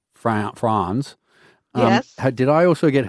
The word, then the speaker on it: Franz: I thought his name was France, and it was Franz.